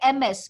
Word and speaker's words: Ms: Then you call it, you write MS, but you pronounce it as Ms.